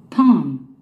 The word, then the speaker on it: palm: Palm. Palm. Palm. 장몸입니다. Palm. Palm. 손바닥을 의미하죠. 손바닥 야자나무 또는 종류잎 네. 손바닥 야자나무 종류잎을 말합니다. Palm. Palm. 이때 L은 발음이 안 됩니다. L은 사일런트라 해가지고 Palm. Palm.